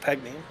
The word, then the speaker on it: Pagani: so he's running some Pagani and sponsorship there or is it apparently pronounced pag name but I prefer to go with my original name The Pagani Ben Anthony is just